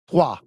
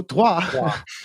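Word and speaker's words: Troyes: First of all, let me start by saying it's pronounced Trois. So Trois, they are the they were excellent at home last season.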